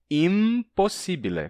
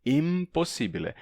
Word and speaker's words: impossibile: A pronúncia ainda seria impossibile, com som de M, impossibile, mas a assimilação não está representada na escrita.